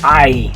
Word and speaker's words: ay: Okay, the next one, this one we say the same way in English, be the word ay, like ay, ay, ay. Okay, we've kind of borrowed that one from Spanish, that's why it is spelled the same and makes the same sound. Because if you think about it, that one, if it was just an English word, we'd probably say a, like in the word hey, or bay, or pay.